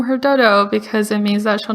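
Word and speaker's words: Doudou: yes i do since birth pretty much it's dodo it's spelled d-o-u-d-o-u and that's pinging which is like the alphabet in chinese in mandarin so it's pronounced dodo and it's means bean bean like it means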